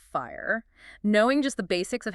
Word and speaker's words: FHIR: Or FHIR, which we pronounce FIRE.